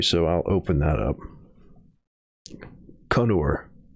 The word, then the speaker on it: Kannur: Kannur. So emphasis on the first syllable. And then, yeah, Kannur.